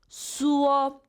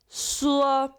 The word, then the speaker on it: 说: 说 first tone. 说 Repeat after me. 说 That's perfect. Okay.